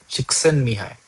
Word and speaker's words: Csikszentmihalyi: His name may sound, the spelling may seem a little funny, but you say it like Chiksan Mihai. So Mihai, Chiksan Mihai.